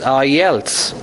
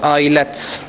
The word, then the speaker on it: IELTS: system I told you the other day the pronunciation of this particular word is I Els not ilets this is I else else I else if